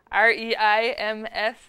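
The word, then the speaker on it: Reims: it's fun to say re IMF the French don't pronounce the end of it but it's the cathedral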